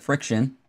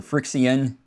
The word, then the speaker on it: FriXion: But let's start with, since Shady Lady mentioned them, the Pilot Friction, or Frixion, depending how you want to pronounce it, which this is supposedly erasable, the erasable end.